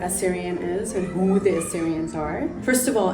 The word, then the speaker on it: Assyrian: is and who the Assyrians are first of all it's spelled asss y r i a n a lot of people mistake it with Syrian but we're a Syrian um so Assyria I